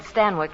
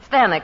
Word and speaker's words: Stanwyck: Well, that's how they said Stanwyck in England. Oh. Stanwyck, it rhymes with Zanuck.